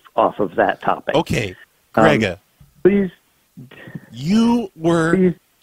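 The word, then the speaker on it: Gregg: It is not pronounced. What did you decide that G-R-E-G-G was pronounced Grega?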